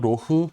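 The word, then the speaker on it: Loch: 블렌디드 스카치 위스키인 캠벨타운 로크라는 위스키 브랜드도 가지고 있습니다. 이 캠벨타운 로크는 원래 캠벨타운은 지역 이름이고 캠벨타운 로크, 로흐 뭐 이렇게 발음하기도 하는데 이 캠벨타운 위스키 성지잖아요.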